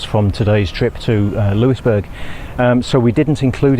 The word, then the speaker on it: Louisbourg: Now, you will notice in this video we we're referring to it as Louisburg. We've since learned that that was wrong and it should be pronounced Lewisburg, so we're sorry about that.